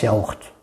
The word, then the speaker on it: yaourt: Attention, ça prononce pas, ça prononce yaourt, ok?